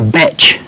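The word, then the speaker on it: bach: We also have a thing called a batch. What is that? And that is really a holiday cottage. How do you spell it? B-A-C-H, I believe. Oh. Not like the composer.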